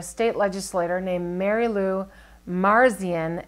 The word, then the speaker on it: Marzian: legislature named Mary Lou Marzian ma are CIA n that's how I would pronounce it whose proposed a bill